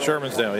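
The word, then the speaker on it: Shermans Dale: from I don't want to say it right Sherman's dale PA Sherman's daily yep yeah nice to meet you boss you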